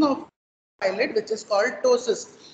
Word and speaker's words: टोसिस: Person will have drooping of eyelid which is called टोसिस. पी is silent, it इज पी टी ओ एस आई एस, टोसिस ऑफ और drooping of upper eyelid.